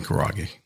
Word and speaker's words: Karaage: Just pronounce the name again of the chicken. Chicken Karaage.